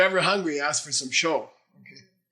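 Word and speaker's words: ཞོ: Okay, But say low tone, sho. Don't say sho. Sho means dice, and it means you want to play some, you want to lose some money. Okay? Don't say I'm hungry, I need some sho. Sho.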